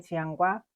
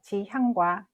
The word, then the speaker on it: 지향: 히읗과 이응의 차이로 정반대의 뜻이 됩니다. 따라서 지향과 지양은 발음과 표기를 모두 정확히 구분하여 사용해야 합니다.